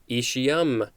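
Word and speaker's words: aecium: next word and last for this episode is ishiyam the word i just read a-e-c-i-u-m this is a noun from 1905.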